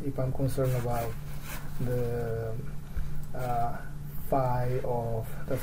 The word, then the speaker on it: phi: If I'm concerned about the phi of, that's how we pronounce this symbol, the phi of, let's say,